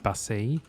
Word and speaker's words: Basset: So one of the YouTube channels that mainly focuses on StarCraft 2 is run by old professional StarCraft player Basset, or Basset, if you pronounce it the French way.